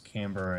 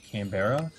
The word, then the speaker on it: Canberra: Everyone, like, I know a lot of people pronounce it Canberra. Yeah. Just because of the way it's spelt, I guess.